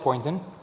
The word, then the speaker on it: Poynton: With me today I have Poynton. Did I pronounce it right? Yes, you did.